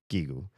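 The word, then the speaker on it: ギーグ: So it's it's hard G's both gigu.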